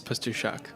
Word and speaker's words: Pastuszak: It's at Pastuszak.